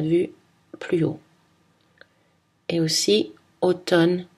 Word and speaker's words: automne: les deux amnésique amnesty attention dans les mots automne condamné on prononce seulement le n à la fin des